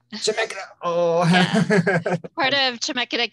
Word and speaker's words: Chemeketa: I'm hoping I'm pronouncing that right. Chemikita? Chemikita. Chemikita.